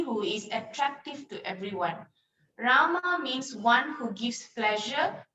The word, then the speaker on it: Rama: hari krishna krishna and rama rhymes with drama and sanskrit words hare